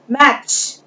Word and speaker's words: match: मैच, MATCH, T is silent here, मिलाना।